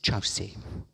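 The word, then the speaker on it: Kyaukse: And the third place, very important for us in our tradition, is Chause. It's spelt Kyorkse, but pronounced Chause, and Chause is what I'll call it all the way through this talk.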